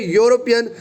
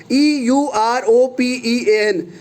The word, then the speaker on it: European: of who, what consonant, because e is silent here, is not giving the sound of vowel.